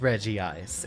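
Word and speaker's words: Regice: the Regis were in it was still actually being pronounced Reggie ice it's just not spelled like that if you had two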